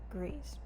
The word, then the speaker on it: Gris: so and gambit picked was greece or gree if you pronounce it the franchise and spoiler i am